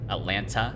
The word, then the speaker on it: Atlanta: i live in atlanta atlanta at suplanta what you would want to do is pronounce both teas and then it kind